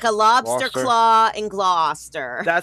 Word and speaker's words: Gloucester: It's Gloucester like claw like a lobster claw and Gloucester.